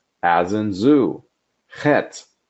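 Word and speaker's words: חית: Chet, Ch as in Bach.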